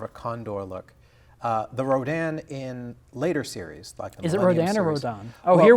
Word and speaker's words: Rodan: the bottom well the the original Japanese way to pronounce it is radon really yeah or raidan really um but for whatever reason I guess maybe to differentiate this Kaiju from a poisonous gas the the American dubs